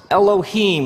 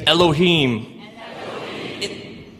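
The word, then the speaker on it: אֱלֹהִים: it would look something like this and it's pronounced Elohim let me hear you say Elohim in the beginning Elohim created the heavens and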